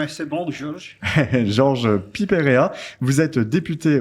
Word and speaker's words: Georges: Alors, je suis très heureux d'accueillir Georges, vous me direz comment on le prononce. C'est bon, Georges.